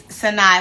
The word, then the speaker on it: Sanai: Sanai said, yes, it's Sanai, like short from Dasani. Oh, okay. So Sani, yeah.